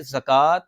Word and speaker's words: زکوٰۃ: کا مقصد یہ کہ زکوٰۃ کا درست تلفظ یہ ہے کہ زا کے اوپر زبر ہو، پیش نہ ہو۔ اس لیے یہ میں